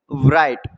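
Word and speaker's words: bright: मैंने लिखा है ब्राइट, ब्राइट मतलब होता है चमकीला, इसमें क्या साइलेंट है? देखो राइट आ जाती है तो G साइलेंट है इसमें, ब्राइट, GH भी लग रहा है उसमें साइलेंट।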